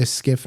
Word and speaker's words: SCIF: And so it's pronounced SCIF, but it's an acronym, SCIF, and it's Sensitive Compartmented Information Facility.